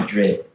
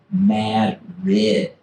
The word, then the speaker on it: Madrid: If you go to Maine and you see the city, it's spelled the same as the big city in Spain. It's not Madrid. Madrid.